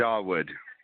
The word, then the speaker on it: Dawood: Because I'm going to let you pronounce it. Dawood.